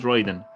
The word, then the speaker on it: Raiden: So it is Raiden.